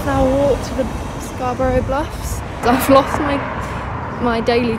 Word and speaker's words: Scarborough: Well, I'm here in Scarborough. That's how you pronounce it, not Scarborough. There's a place in England called Scarborough, which is why I thought it was pronounced like that.